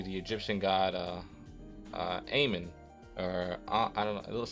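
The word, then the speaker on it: Amun: Egyptian god uh uh Aon or I don't know it looks like almond to me but uh uh Aman oh there you go Aman that's how you say it and it's uh this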